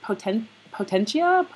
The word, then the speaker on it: Potentia: Rebecca's website is actually, I'm going to mispronounce it. Is it Potentia?